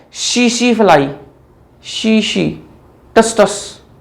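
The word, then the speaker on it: tsetse: काम कौन करता है, शीशी फ्लाई, शीशी, टस टस, जो बोलना चाहो बोल देना, टीएससी, टीएससी, ठीक है, यहां पर टी साइलेंट करो तो शीश, ठीक है।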